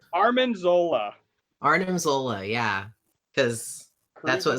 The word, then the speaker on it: Arnim: Are you saying Armin Zola? Armin. I thought it was Arnim.